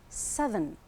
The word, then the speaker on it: southern: So the th sound, but when it changes to an adjective, it's southern.